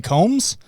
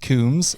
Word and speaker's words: Combs: And I'm like, Jason Combs? And he's like, it's pronounced Coombs.